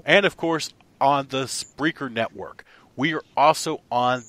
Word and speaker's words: Spreaker: company's company answer that why in the hell did you name it Spreaker instead of speaker that wouldn't make me look like an idiot for mispronouncing it for the past frickin five months thanks a lot other